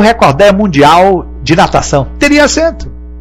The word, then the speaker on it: recorde: recorder ele bateu o recorde mundial de natação teria cento mas como nem recolhe nem record é o certo é recorde o exceto falar é